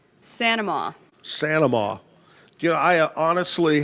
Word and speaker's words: Saint-Amant: I like to say Saint-Amant. Claire Saint-Amant. But she pronounces it Sanama.